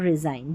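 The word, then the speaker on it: resign: जी एन जब भी साथ में आएगा न पढ़ेंगे, क्योंकि एन का उच्चारण है और जी यहाँ पर साइलेंट है, देखें, ठीक है, जी साइलेंट, साइन, डिज़ाइन, अलाइन और रिज़ाइन, जी एन दे रखा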